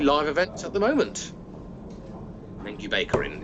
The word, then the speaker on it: Lengjubikarinn: Lengjubikarinn is what it's called. That's how it's pronounced.